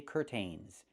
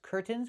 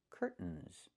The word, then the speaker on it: curtains: I can say curtains or curtains, but don't say curtains. It's curtains with a real T, curtains, or I can use a stop T and say curt, stop the air, put the tongue up, curt, mns, and go directly to the N, curtains. So, curtains or curtains. Both pronunciations are correct.